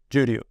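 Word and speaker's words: Juryu: difficult for a few people to uh to pronounce Juju y r oh no j-u-r-y-u Juju yep even for me I was like wait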